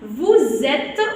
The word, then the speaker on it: vous êtes: sommes avec double M, vous êtes, on fait la liaison quand on prononce. Pourquoi? Parce que le S qui colle entre deux voyelles, d'accord, il devient Z, donc on le prononce Z.